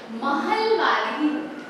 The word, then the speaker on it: महलवारी: English में इट इज ए, ठीक है, महलवारी। ओके, नॉट इंग्लिश में हम वैसे लिखते हैं स्पेलिंग, लेकिन इट इज महलवारी, ठीक है।